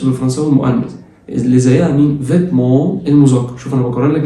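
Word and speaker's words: vêtements: اللبس او الملابس فيتمون، فيتمون الاو ان لسه قايلين عليها بتتنطق اون تبقى فيتمون، والتي ما بتتنطقش فيتمون، فيتمون.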